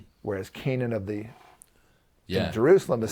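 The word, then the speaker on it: Canaan: a i n whereas Canan of the Jerusalem is c a n a n right so they're spelled differently but there the same word phonetically anyway so the point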